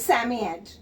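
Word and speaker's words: Psammead: sami yet not children how to pronounce this word sammy yet here p is silent just break the word sam e is here so it becomes sammy and ed it becomes sammy ed so he's asking don't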